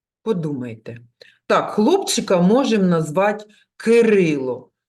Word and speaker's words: Кирило: давайте кількість складів проплескуємо ки рило на який склад падає наголос Кирило ми голосом виділяємо другий склад Отже він наголошений кажіть будь ласка скільки